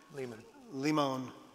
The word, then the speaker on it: Limon: Limon. That's how he pronounces it.